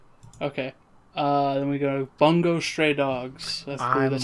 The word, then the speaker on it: Bungo Stray Dogs: so who knows okay uh then we go bungo stray dogs that's that's how you pronounce it very much looking forward to that